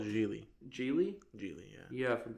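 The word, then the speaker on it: Gigli: Oh, it's called Geely.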